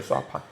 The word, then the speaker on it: 사반: 원래 발음으로 쏴판이라고 해요. 수판. 이거를 그냥 편하게 사반이라고 읽는데 강아지 뭐 아니면 너구리 반쯤 섞인 동물이라고 해요.